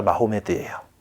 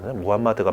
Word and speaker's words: 무함마드: 구세주가 예수님이 구세주다라고 있고, 이슬람은 이제 여기는 그리스도라는 개념은 조금 없긴 한데 최후의 선지자가 마호메드예요. 무함마드가 맞는 발음이라 했어.